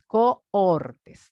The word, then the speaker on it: cohorte: voy a utilizar cortes cortes ya pronunciar bien y saber que lleva una H Porque si decimos corte